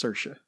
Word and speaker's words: Saoirse: young Irish immigrant Ailish Ailish yeah and it's Saoirse so you're gonna have problems with these Oh hourish pronunciations oh I'm going to butcher it it's